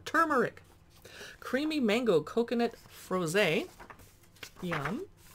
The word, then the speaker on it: turmeric: checking lemon turmeric cooler i had to struggle because i wanted to say tumeric because a lot of youtubers mispronounced that don't forget the first r turmeric creamy mango coconut froze